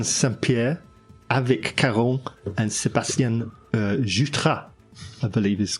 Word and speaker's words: Jutras: Etienne Saint-Pierre, Avec Caron, and Sébastien Jutras, I believe is correct pronunciation.